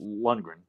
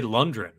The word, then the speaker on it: Lundgren: the roger coleman version his last name is hard to pronounce yeah if you say it fast lundgren you know i mean a lot of people say london yeah because i i